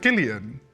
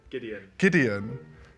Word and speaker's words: Gideon: No, although my name is Gideon, so like giddy up, you know. I will get it now. Is he joking? Yeah, no, he was funky. How do you pronounce it? Gillian? Gideon. Giddy up.